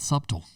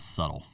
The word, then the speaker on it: subtle: It's not subtle. It is not, buddy. It is subtle.